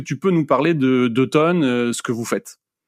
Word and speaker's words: 2 tonnes: Alors déjà, 2 tonnes, ça s'écrit 2, le chiffre 2, et puis tonnes, TO2NES. Parce que souvent, quand on présente ça, notamment en septembre, octobre, novembre, tout le monde pense que c'est un atelier d'automne.